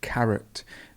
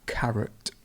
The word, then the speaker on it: carrot: ear career and carrot the stress moves now to the beginning so it's carrot and the schwa is over the oh carrot casual casual casual and